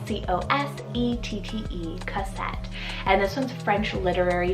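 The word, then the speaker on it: Cosette: to the girls side i have the name cozette c-o-s-e-t-t-e cassette and this one's french literary nickname meaning little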